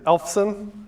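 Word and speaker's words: Eyolfson: good way to or the perfectly acceptable way to pronounce it for me is elfon so elf it's just Christmas elf should be still kind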